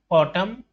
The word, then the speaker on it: autumn: In the words given below, the letter N is silent when it appears with M at the end of the word. Hymn, column, autumn, solemn.